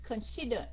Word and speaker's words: consider: nào lật tự điển Ok consider coned con như nhấn âm Ha phải không consider Yes on the second One second syllable consider coi chừng bị